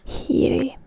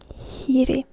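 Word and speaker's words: hiiri: This can be a bit tricky word for a lot of you, as there is the H that is always pronounced in Finnish. Hiri. And then there's the R, which is again hard R.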